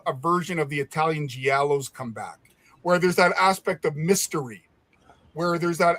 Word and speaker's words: giallo: See, so when I think about, I've never heard it pronounced that way. I always thought it was Gallo. But anyways, it doesn't matter. Giallo. Giallo means yellow in Italian.